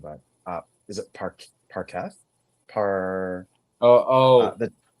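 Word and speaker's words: Parekh: Oh, I'm very impressed with I don't want to mispronounce his name, but is it Parketh? The Parak.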